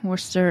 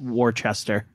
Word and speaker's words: Worcester: s t e r a lot of people that are not from the Northeast uh pronounce it Worchester like Worchester I had to ask sauce yeah I had to ask my husband when I moved here how to pronounce that cuz I always called it Worchester sh I think here